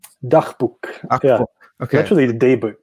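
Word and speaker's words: Dagboek: It looks like Dagbook? Dachbuch.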